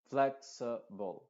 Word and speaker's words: flexible: Flexible. Flexible. Flexible. O sea, estas vocales se pronuncian de forma muy rápida, que son las vocales schwa.